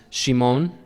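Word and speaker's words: שמעון: this to be interesting simon pronounced in hebrew is shimon in hebrew it means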